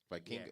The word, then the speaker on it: Vikingo: Vikingo. Yeah, actually, it's right I here. might be saying his name wrong.